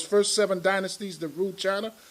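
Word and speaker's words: Qin: z h o u chin q i n is pronounced it's chin Han hn Dynasty these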